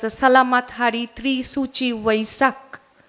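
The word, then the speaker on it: Vaishakh: Salamat Hari Tri Suchi Vaisak. This is the Vaisak, is actually Vaishak. So the pronunciation changed the same time and the same day.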